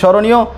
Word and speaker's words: স্মরণীয়: স্মরণীয় মানে স্মরণীয়, স্মরণীয় কেন বললাম দন্তেশয় ম, কিন্তু উচ্চারণ হবে স্মরণীয়, স্মরণ করা অর্থে স্মৃ